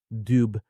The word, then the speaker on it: dubh: A larger number bear the Gaelic title of dubh, often hidden from a casual observer by its pronunciation of u, which it receives when aspirated, dubh.